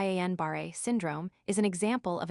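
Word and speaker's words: Guillain-Barré: Gilling pronounced ganbareet syndrome is an example of a demyelinating disease of the peripheral nervous system.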